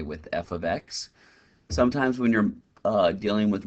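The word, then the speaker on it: f(x): A lot of times students have that misconception that it's saying, you know, f times x. No, it's actually pronounced f of x.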